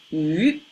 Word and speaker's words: 于: This, one of the meanings is at, pronounced as yu.